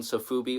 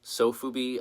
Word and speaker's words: Sofubi: To get this out of the way, the process of making Sofubi or Sofubi, I've heard it pronounced multiple ways.